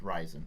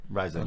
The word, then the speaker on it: Ryzen: if they actually said in the thing it's pronounced rising rising yeah um so it has eight core 16